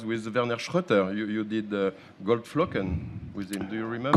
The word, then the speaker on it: Goldflocken: You did Goldflocken with him. Do you remember? Goldflöckchen. Goldflocken, bitte. Not Froschen.